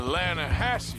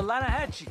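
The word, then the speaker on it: Lannahechee: some beautiful steelhead trout you mean the Lana Hasse river no no no the Lana hacci it runs right near here yeah but it's pronounced Lana Hass why is everything in English said differently than it's written make us feel stupid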